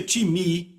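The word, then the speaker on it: τιμή: A palavra honra vem do grego timi, que se soletra time, T-I-M-E. Eu digo time porque é a nossa pronúncia, mas se pronuncia timi, e quer dizer uma valorização.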